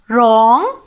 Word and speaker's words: wrong: R අකුරට කලින් W අකුර යෙදෙනවා නම් ඒ W අකුර ගොඩක් වෙලාවට silent වෙනවා. ශබ්ද නගන්නේ නැහැ. pronounce කරන්නේ නැහැ. අපි උදාහරණ වගේක් බලමු. wrong, right, wrist.